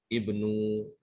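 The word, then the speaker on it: ابن: berarti imroa anime dibacanya Ibnu hati-hati ya bukan Unu tapi Ibnu ini juga sama huruf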